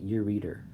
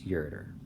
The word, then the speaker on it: ureter: line is the ureter some people pronounce it your reader but it's your tur this is also a